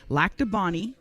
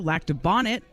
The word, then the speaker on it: Lac du Bonnet: There's Lac du Bonny, which of course you hear the most often, but also Lac du Bonnet and Lac du Bonnet.